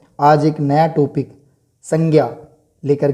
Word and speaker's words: संज्ञा: वैसे आप सब जानते हैं ज्ञ न होकर के ज्य है, तो मैं मुख सुख के आधार पर ही इसका उच्चारण करूँगा संज्ञा। तो सबसे पहले देखें कि